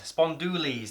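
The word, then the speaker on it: spondulix: number three spawn Dooley's spawn Dooley's now it's spelled with an i but it's pronounced YZ rather than is at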